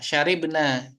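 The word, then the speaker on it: شَرِبْنا: Ya, syaribna. Kita di sini bacanya Akalna dengan ro di kasroh.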